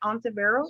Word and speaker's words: Ontiveros: Diane, am I pronouncing your name right? Ontiveros?